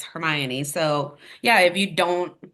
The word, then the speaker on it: Hermione: showing my age um like hermion I called her Hermoine the first four books because it does not explain how to say her name until the fourth book until it's like it's Hermione so yeah if you